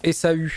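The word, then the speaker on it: Ésaü: Ça se prononce Esaü.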